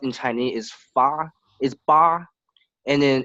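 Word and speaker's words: 八: So it's this when 8 in pronounced in Chinese is fa, is ba, and then it's kind of similar word to this word we call fa.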